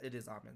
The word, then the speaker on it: Amen: I literally hear so many people say it differently, but it is Amen Thompson.